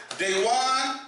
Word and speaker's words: DeJuan: Now we have a a a caller came in featuring our guest co-host Dewan. Did I pronounce that correct? Dewan. Dwan.